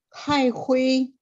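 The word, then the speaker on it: 开会: 会 -nya ada 4, Ibu. Boleh sekali lagi? 开会。会。会。 ha ya, ha. 开会。开会。 H-nya memang H biasa kayak bahasa Indonesia, cuman ada 4 ya.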